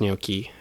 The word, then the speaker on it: gnocchi: "It's pronounced gnocchi.